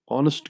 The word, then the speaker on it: honest: तो उसमें जनाब एच जो है वो साइलेंट है, वो आपके लिखने में आएगा लेकिन पढ़ने में नहीं आएगा. ओ आप उसको प्रोनाउंस करेंगे, अलिफ ऑनेस्ट की मदद से आप उसको प्रोनाउंस करेंगे.